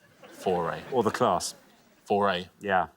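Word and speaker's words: Fauré: me the other day how to pronounce foray for yeah yeah it's like the batteries that's how I remember it foray or the class for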